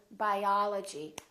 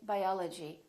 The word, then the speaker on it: biology: For example, let's take the sound a as in the word biology. We don't say biology, we say biology. Biology.